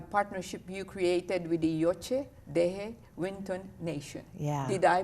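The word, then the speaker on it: Yocha Dehe Wintun Nation: us about the partnership you created with the yoche de winton nation yeah did i pronounce it right yes you did okay yeah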